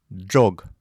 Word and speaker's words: ӝог: «Ж» с двумя точками «дж» произносятся как слитно произнесенные «д» и «ж». «Дж». Пример. «Джог» — быстро.